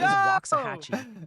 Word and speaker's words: Waxahachie: Loving Tate dropping in with a Bro just got pronunciation guide for completely us. cut off. They say Bernie is Bernie. Waxahachie is Waxahachie.